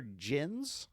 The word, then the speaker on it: Gens: It's directed by Xavier Gens, G-E-N-S, or Gens, if you pronounce GIF correctly.